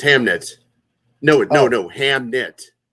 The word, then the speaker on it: Hamnet: Hamnet. That's how it's spelled.